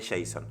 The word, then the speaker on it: JSON: entender Qué significa Jason se escribe json y se lee Jason Jason significa javascript object